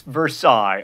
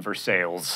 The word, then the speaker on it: Versailles: way not an accessory it's Versailles unless you're in Kentucky or Indiana in which case you were in Versailles and speaking of the